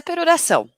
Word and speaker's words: peroração: Fica difícil, né, escrever como se pronuncia, né? Mas é peroração, tanto faz.